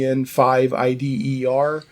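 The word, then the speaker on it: EN5IDER: they have the Insider or the EN5 IDER. That's how you pronounce it, yeah.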